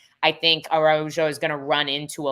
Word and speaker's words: Araujo: Araujo.